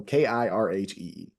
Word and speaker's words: Kirhee: So I'm gonna spell it out, Kirhee, because if I just lead you astray by saying Kirhee, right? So it's Kilo India Romeo Hotel Echo Echo. So Kirhee.